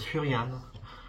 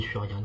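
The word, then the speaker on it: Furiani: diriger vers le stade furian je crois qu'on dit frian on prononce pas on pantalon aussi et du coup rendez-vous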